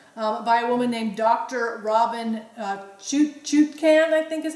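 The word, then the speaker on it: Robynne: And it's interesting, her first name is spelled R-O-B-Y-N-N-E. So some extra letters in her Another name there. For Robin. Another way to spell Robin.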